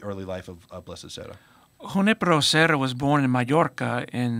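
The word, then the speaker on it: Junípero Serra: So first, did I pronounce it right? Is it Junipero Serra? Junipero. Junipero Serra.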